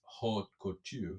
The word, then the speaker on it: haute couture: 4 is haute couture. Is this how you say it? Pretty much. Yeah. I mean, it's French, not English, but yeah, I think you got it.